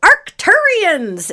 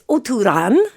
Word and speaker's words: Oturan: They're relatives of the Oturan, which are the folks from Otur, which are what we like to call Arcturians in our American accents. Arcturian. But it's Oturan.